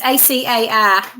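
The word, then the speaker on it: açaí: It's ACAI, the Acai.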